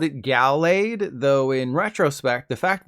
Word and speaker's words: Gallade: Yes, it's called Gallade. I always called it Gallade, though in retrospect, the fact that Gallade has